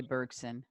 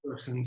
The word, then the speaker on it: Bergson: So I don't know how you would pronounce it in English. So the spelling is Bergson. Right, we would say Bergson, right? Bergson.